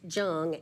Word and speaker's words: Jung: commissioner Trisha Jung because it is pronounced Jung and not young.